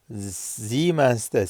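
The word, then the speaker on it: Siemens: O zemens'te seens'te çalışıyor. S harfleri Türkçede ki S harfleri Almancada Z olarak okunuyor.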